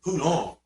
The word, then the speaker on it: Poulenc: First thing she did was, it's pronounced Poulenc. His name was Francis Poulenc.